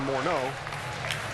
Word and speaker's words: Morneau: no balls two strikes to Morneau that's the way he prefers to hear his name pronounced for years and years we said Justin Morneau prefers Morneau remember he was he